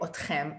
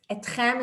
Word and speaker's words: אתכם: in Israel would say otchem and otchen. Don't overthink this. Etchem is like a news broadcaster thing. Etchem is the right way to say it, but everyone says otchem. So you can use either.